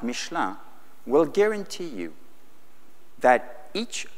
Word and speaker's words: Michelin: But these were the old days, because now a company like, I'll pronounce it the American way, Michelin, a company like Michelin will guarantee you that